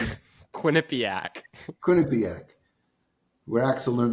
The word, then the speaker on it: Quinnipiac: How do you pronounce it? Quinnipiac.